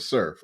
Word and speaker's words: serf: understand what is a serf, and it's Okay, a spelled serf S is SERF. it's spelled SERF as serf.